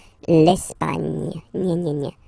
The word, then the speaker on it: Espagne: Okay, don't insist on the final E because basically it's not pronounced. L'Espagne. Gna, gna, gna. L'Espagne.